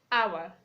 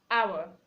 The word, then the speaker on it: hour: We have hour, hour. You to say hour, not hour.